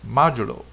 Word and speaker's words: modulo: Okay, MOD is pronounced as modulo.